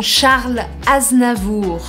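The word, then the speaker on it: Charles Aznavour: pediu a cidadania francesa conseguiu ele chama então xarla aznavour as navio e para a gente terminar vamos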